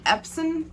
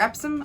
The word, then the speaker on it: Epson: find is that the epson printers are epsom i can't really say it right it's epsom epsom printers um use alcohol